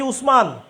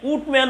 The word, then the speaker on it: উসমান: ব্রিটিশরা উসমান উচ্চারণ করতে পারে না, ওরা বলে উটম্যান বলে। উটম্যান মানে উটম্যান থেকে, উসমান থেকে উটম্যান। এই উটমান থেকে পরবর্তীতে এই নামটা অটোমান হয়েছে।